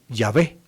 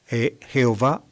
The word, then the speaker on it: Yahvé: Shem HaMeforah, decían los rabinos judíos, el Señor Yahvé. Esa sería la pronunciación que los judíos nunca actualmente, ni siquiera en tiempos de Jesús, utilizaban.